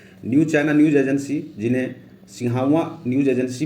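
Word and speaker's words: Xinhua: China news agency, जिन्हें Sihawa news agency भी कहते हैं, चीन का समाचार एजेंसी है। ठीक है, ये प्रोनाउंसिएशन आप लोग देख लीजिएगा, सिन्हुआ करके है कुछ।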